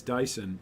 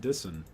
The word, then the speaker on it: Dyson: a good one yeah we pronounce Dyson as Dyson and not dissin that's a good point that's a good point where the eye pretends to be different sounds it's pretty tough that's a